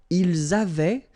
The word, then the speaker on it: ils avaient: Ils avaient, so remember, even if we've got this A-I-E-N-T, well, we don't pronounce it, or we don't pronounce this E-N-T, so we get avait, okay, phonetically.